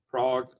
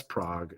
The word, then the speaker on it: Prague: uh just Northwest of Prague I'm assuming that's how you say it I think sometimes people say yeah it's Prague it's not prag unless you're from Wisconsin then you say prag but other than that